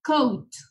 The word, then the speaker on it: coat: Aquí podemos ver que están juntas la O y la A. Entonces esto se pronuncia como O y U. Es decir, que la A le cambiamos por la U, sería coat.